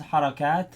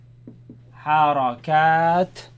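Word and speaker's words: حركات: The plural of this is Harakat. Harakat.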